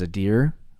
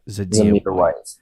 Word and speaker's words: Zamir: Skye Moore 2-6, Brian Robinson 2-7, and then I think his name is Zadir. I want to pronounce it right. Zadir White. Zamir White. Zamir White. There's no deer.